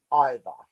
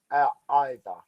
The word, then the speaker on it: either: say ich at the end so mick um either what about what either you would say either i'm not sure what